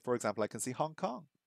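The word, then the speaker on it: ホンコン: where's Hong Kong gone okay oh Hong Kong Hong Kong is the Japanese for Hong Kong so it turns out that the uh Japanese pronunciation for Hong Kong is based on the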